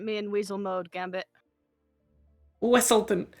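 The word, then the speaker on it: Weselton: Wesselton! It's pronounced A Wesselton!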